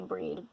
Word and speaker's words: Brighid: I think I said something about Brighid. I was thinking about Brighid in terms of the kind of goddess she is, or breed. I like to say breed, or breed, however you want to pronounce it.